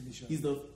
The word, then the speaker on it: Micheaux: Yeah, Oscar Michaud.